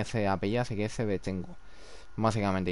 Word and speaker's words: Shevchenko: Porque hay una luchadora como tal de UFC que tiene ese apellido, así que es Shevchenko, básicamente. Y lo sé 100% que se pronuncia así.